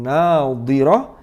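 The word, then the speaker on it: ناضرة: Wujuhu yawma idzin nadhirah ila rabbiha nadhirah. Ini jangan kebalik. Yang pertama menggunakan dhad, yang kedua menggunakan dha.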